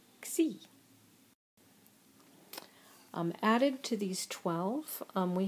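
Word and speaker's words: ξ: And for the palatals, kappa, gamma, and chi, these combined with sigma form the letter xi and are pronounced x.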